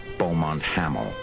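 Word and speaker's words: Beaumont-Hamel: over the top near a village they pronounced bont haml what the new finlanders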